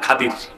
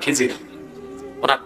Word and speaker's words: খাদির: আছে আমার এক বান্দা তার নাম খাদির যাকে আপনারা কন খিজির আসল নাম কি শুদ্ধ উচ্চারণ কি আমরা বলি তারপর কি